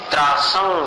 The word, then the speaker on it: त्रासं: और चौथी पंक्ति में त्रासं विहाय, अनुस्वार का उच्चारण संवर के समान, त्रासं विहाय भवतः, ये विसर्ग है।